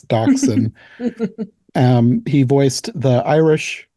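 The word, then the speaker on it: Dachsie: the Stray male doc I always want to say Dash because of the way it's spelled but it's docen um he voiced the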